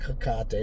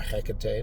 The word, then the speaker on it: Hecate: And those spirits like Dantor and other feminine spirits or divine, demonic, feminine goddesses like Lilith, like Naama, like Hecate or Hecate, depending on how you pronounce it, it's a wrap.